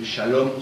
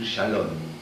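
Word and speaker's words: שלום: Por ejemplo, los españoles que van a Israel o estudian hebreos, en lugar de decir Shalom, suelen decir Shalom, porque les cuesta la M final.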